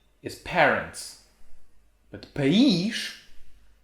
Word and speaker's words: país: always say another one paich is parents but paige it's country so the country of my parents